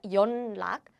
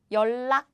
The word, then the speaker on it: 연락: This is not 연락, but this is more like 연락 because it's easier to pronounce.